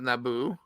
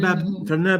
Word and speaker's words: Naboo: Also, a lot of things rhyme with Naboo. Like guess who? Taboo.